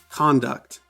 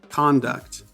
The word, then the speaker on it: conduct: to these two words conduct conduct conduct conduct conduct conduct hopefully you noticed in the noun the first syllable con is stressed and in the verb the second syllable duct is stressed here's a good rule